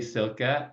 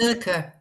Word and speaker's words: Silke: So, hey, Silke, is it Silke or Silk? How do I pronounce that? Silke, that's correct.